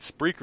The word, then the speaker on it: Spreaker: company's company answer that why in the hell did you name it Spreaker instead of speaker that wouldn't make me look like an idiot for mispronouncing it for the past frickin five months thanks a lot other